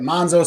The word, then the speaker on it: Manzo: my Italian friend Victor Manzo because we said the pre-show well how do we say your name is it Manzo Manzo he says if you're Italian you say it monzo so if I say my